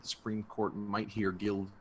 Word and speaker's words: Gill: had mentioned that the Supreme Court might hear Gill v. Whitford, and that's the proper pronunciation, not Gale v.